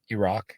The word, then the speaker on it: Iraq: my my parents are actually refugees essentially from Iraq is how we pronounce it uh they left in the 70s